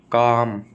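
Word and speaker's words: calm: अपनी वोक टोक चोक काम कालम नहीं काम ये तो अपन आम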